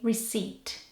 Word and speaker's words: receipt: you spell it but the P is silent so you say receipt this word has a